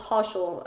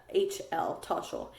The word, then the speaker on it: Toshl: And then there's one called Toshal. That one's really good too. And Toshal is spelled TOSHL, Toshal.